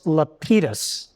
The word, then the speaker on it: Lapidus: throw something out, Morris Lapidus. My friend Arthur Dunkelman, who runs the Black Center of Miami, insists correct Central European pronunciation is that Lapidus. Lapidus is incorrect.